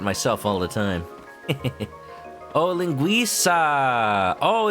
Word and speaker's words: linguiça: Oh, linguiça. Oh, it's not Italian. Dang. There's me for assuming. See, I've heard people call it linguica, And then everybody else is like, that's not how you pronounce it.